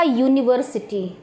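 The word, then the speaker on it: university: ऑफ अ यूनिवर्सिटी, आप सोचेंगे कि यूनिवर्सिटी, इसका प्रोनाउंसिएशन क्या हो रहा है, यूनिवर्सिटी, ठीक, यूनिवर्सिटी, ठीक, यू हो रहा है, यू हो रहा है, यानी कि आपका जो साउंड लिखा हुआ है वोवेल से स्टार्ट हो रहा है।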